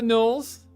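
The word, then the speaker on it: Gnoll: And Knoll, the G is silent.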